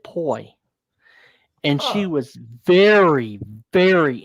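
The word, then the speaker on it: Pui: It It was Pooie, but she pronounced it poi.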